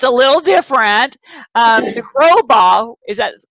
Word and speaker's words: De Grosbois: De Grosbois, yeah, that's right. I almost had it. How do you spell that for everybody? It's D-E, and then there's usually a space, capital G-R-O-S-B-O-I-S.